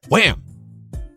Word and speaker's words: Wham!: Sorry, Wham! You gotta pronounce it with the exclamation mark.